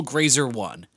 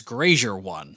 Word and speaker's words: Grazer: And for some reason, Travis mispronounces it as Grazier 1. I not only invented Grazier, Grazier 1. It could be worse. He could be saying it as Grazer 1.